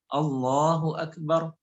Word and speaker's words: Allahu Akbar: dalam kitab Al-Azkar itu nggak boleh kita panjangkan. Allahu Akbar nggak boleh. Jadi takbiratul ihram karena itu rukun daripada rukun salat, maka kita bacanya pendek. Allahu Akbar.